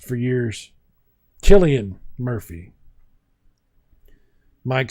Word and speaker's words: Cillian: It has the guy with the name that I mispronounced for years, Cillian Murphy.